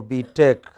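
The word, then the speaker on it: B.Tech: it is B Tech stress on the second don't say beat it but say B Tech what is it yeah what are you studying for we take you are studying for B Tech okay it's not film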